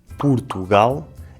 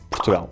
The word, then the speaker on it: Portugal: Ou até o nome do nosso país em que “o” se pronuncia como um “u”, “Purtugal”, ou então o “o” e o “u” desaparecem e dizemos só “Prtgal”.